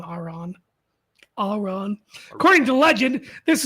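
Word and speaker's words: Arran: the island of rothin or Ain Iran not Iran Aon Aon according to Legend This is where he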